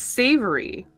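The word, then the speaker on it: Savouré: I think it's pronounced savory, but it's spelled S-A-V-O-U-R-E with an agu accent on it.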